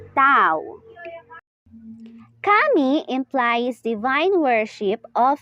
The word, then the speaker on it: Dao: Accordingly, Dao is pronounced as Tao.